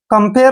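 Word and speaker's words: compare: ए आर ई देखिए सी ओ का उच्चारण यहां पर हम क कर रहे हैं और एम को आधा म लिखते हैं पी को हमने प पढ़ना है और ए आर ई का उच्चारण एयर करने है एयर ऐसे कम र कंपेयर होता है तुलना कंपेयर तुलना करना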